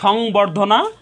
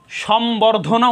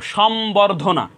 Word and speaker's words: সম্বর্ধনা: তো আজ থেকে আমরা সম্বর্ধনা উচ্চারণ করব, সম্বর্ধনা। এটা নট সংবর্ধনা, এটার শুদ্ধ উচ্চারণ হবে সম্বর্ধনা, সম্বর্ধনা। এটার ব্যাকরণগত নিয়ম হলো ব এবং ম এর সাথে যদি বফলা সংযুক্ত হয়, তাহলে বফলার উচ্চারণ অবিকৃত থাকে, অর্থাৎ বফলার উচ্চারণে কোনো পরিবর্তন হয় না।